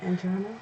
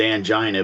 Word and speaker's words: angina: Angina? Well, I pronounce it angina, but I guess that's too close to other things for some people, and so every doctor and nurse I talked to pronounced it angina.